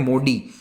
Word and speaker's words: मोडी: ठीक है, इंग्लिश में इसको MODI लिखा जाता है, लेकिन हिंदी में इसे हम प्रोनाउंस करते हैं मोडी। ठीक है, ड है ये, द नहीं है।